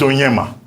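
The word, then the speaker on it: Onyeama: It's like the spelling for the foreign minister has A. But you don't pronounce the A. It's Onyema.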